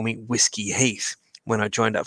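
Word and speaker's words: uisge: that is Scottish gallic for whiskey and it's pronounced whiskey that's it it was an old joke from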